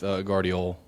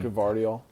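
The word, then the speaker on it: Gvardiol: I think for me, I'm going with Guardiol, right? That's how you say his name. Guardiol.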